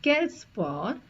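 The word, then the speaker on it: quel: we will use the question word q u e l because the noun is masculine singular so Kel spu with s it will become Kel ESU with inversion it becomes kelp the next example I've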